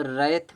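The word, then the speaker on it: wrath: तो रैथ में W silent होता है।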